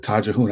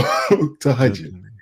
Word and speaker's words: Tahajjud: I called it Tajahun. I know how to pronounce it. So Tahajjud.